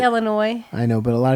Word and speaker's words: Illinois: here on this side call Illinois Illinois with an S the S I say Illinois I know but a